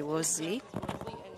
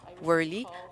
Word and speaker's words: Rosley: C'est Rosley. Ça a été prononcé Rosley et non pas Worley.